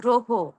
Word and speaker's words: গ্রহ: অধনিয়র সঙ্গে রফলা থাকার কারণে আমরা গ্রহ না বলে ও এর মত উচ্চারণ করব গ্রহ।